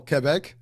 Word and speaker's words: Quebec: But as I looked into him, there's so much stuff about this dude, and hailing all the way from Quebec, oh Quebec.